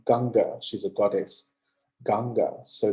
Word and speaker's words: Ganga: gangasana in in India the most sacred river is the Ganges but she's her name is actually pronounced ganga she's a goddess ganga